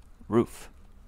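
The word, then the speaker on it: Ruf: think less of you for mispronouncing and earlier but it's correctly pronounced roof there you go I'm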